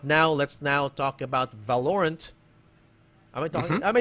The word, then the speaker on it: Valorant: i saying it right it's two words valor and ants you and you have the best ant in the world his name is valerian there you go okay so valor rant okay i'm just saying